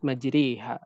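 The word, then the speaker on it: مَجْرَاهَا: Di dalam Al-Quran, di dalam riwayat Hafs an Asim hanya terdapat di satu tempat saja, dalam kalimat majriha. Majriha, ra-nya di dalam ra imalah, maka dia dibaca dengan tipis.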